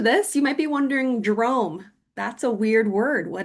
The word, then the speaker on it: DROM: Well, Drome stands for drumming, the drum, and mindfulness, the ohm, put together. So the word is pronounced Drome.